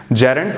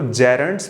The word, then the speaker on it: gerunds: जेरेंड्स की बात कीजिएगा, वेरी फर्स्ट थिंग इनको जेरेंड्स पढ़ते हैं, जीरंड नहीं पढ़ा जाता। मेरे शहर में और आसपास जीरंड टीचर्स ही बोलते हैं, तो माफ कीजिएगा, प्रोनाउंस्ड जेरेंड्स।